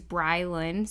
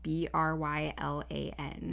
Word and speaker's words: Brylan: His name is Brylan, so it's Brian with an L in the middle. Brylan.